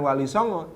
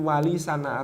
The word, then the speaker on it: Walisana: buku atau kitab walisana ternyata pelafalan di Kraton itu bukan Walisongo tapi walisana atau Wali Songo Wali